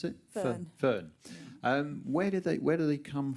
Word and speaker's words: Föhn: How do you pronounce it? Föhn.